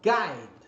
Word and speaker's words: guide: agora para sequência g1i também no G1 Praticamente você não vai pronunciar o u em inglês ó Guide então Guy Observe o